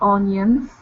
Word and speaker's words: onions: She learned about onions, spinach, and broccoli. Good. All right. One more time. Onions instead of on, or sorry, own. Okay. It's not an O. It's only onions.